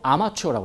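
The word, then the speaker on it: armature: 구별을 하고 싶지 않습니까 전기자를 영어로 아마추어라고 그래요 프로와 아마추어 그 아마추어 아니에요 발음만 비슷한 거고 스펠링은 좀 달라요 그래서 우리이 전기자의 유도된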